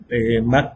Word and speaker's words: Mach: Los militares, esos ya es Mach 3, Mach 4, el Mach, bueno, si se escribe Mach, pero es Mach, es la velocidad del sonido, o sea, tantas veces la velocidad del sonido.